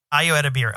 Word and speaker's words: Ayo Edebiri: How do you pronounce her name? Ayo Edebiri? Yeah. Ayo Edebiri.